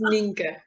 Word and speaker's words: Ninke: You can say whatever you like, but it's Ninke. Ninke.